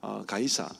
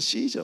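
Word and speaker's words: Caesar: 반감이 많았고 가이사, 뭐 보통은 시저 뭐 이렇게 이야기하기도 하는데 네. 카이사르라고 하기도 하고요. 그 당시에 이제 발음을 어떻게 하느냐에 따라 굉장히 달라요. 시저, 가이사, 카이사르 뭐 이렇게 말을 하는데 보통 일반 세상에서는 이제 카이사르라는 말을 씁니다. 영어는 시저라고 이야기하는데 어쨌든 그 가이사는 자기 민족을 억압하는 나라의 주인입니다.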